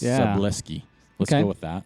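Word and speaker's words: Szablewski: s k i so it's like bruski but with an l and a s so it's seski let's go with that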